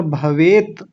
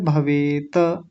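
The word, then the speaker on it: भवेत्: क्षेमतरम नहीं क्षेमतरम और भवेत बस भवेत क्योंकि हलंत लगा हुआ है अगर हलंत ना होता तब बोलते भवेत तो अभी क्या बोलेंगे भवेत हो गया देखिए यदि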